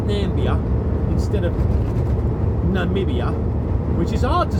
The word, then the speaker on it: Namibia: At the end of the day, Namibia is a hard word to say. And I've met people from Namibia. I actually have. He said, I think he said Nambia. And he said it wrong.